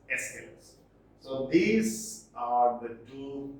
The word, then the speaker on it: Aeschylus: Some pronounce it like Aeschylus, others Aeschylus, whatever. It is generally pronounced as Aeschylus.